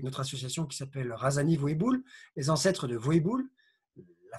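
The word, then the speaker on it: Vohibola: association qui s'appelle Razani Voéboul, les ancêtres de Voéboul, la forêt du même nom, Voéboul, que je vous engage à découvrir sur Internet. Vous faites Google Voéboul, ça s'écrit Voibola, V-O-H-I-B-O-L-A, et vous verrez qu'elle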